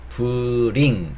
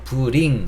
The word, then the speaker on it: bring: bring 이라고 보통 발음을 많이 하시는데, 이게 B하고 뒷부분에 있는 게 R이거든요. R이라는 이 철자는 그냥 리을보다는 약간 혀를 말아주셔야 돼요. 그래서 bring 이거보다는 bring 약간 이렇게 혀를 좀 말아주시면 되는데, 이게 힘드시잖아요.